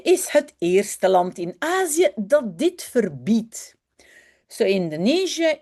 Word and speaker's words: Azië: The two dots only mean start a new syllable. Do not say Indonesië along E, which is also written I-E. No, it means say the I and say the E separately. Indonesië, Azië, I.